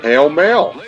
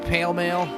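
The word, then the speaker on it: Pall Mall: a regional Mandela effect it's always been pronounced pale male I've always hold heard it called Paul Maul because the word mall in it.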